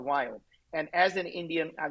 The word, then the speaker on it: Viome: a Healthcare company called wild and as an Indian a guy I cannot pronounce the word we so it's V as in Victor don't ask me why